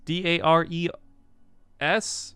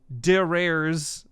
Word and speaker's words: Dares: if you guys don't know who dares is d a r e s his name look no r s his name